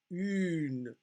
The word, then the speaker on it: une: So the fact that this E at the end of the word, which is actually a mute E, and you don't hear that syllable, it's not a full syllable, une, brune.